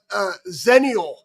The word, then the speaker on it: Zennial: I am now Zennial, and that's how you say it, which is great because